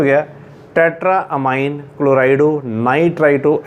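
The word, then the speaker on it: ammine: Tetra अमाइन, इनू अमाइन ही pronounce करना AMMIN, अमाइन।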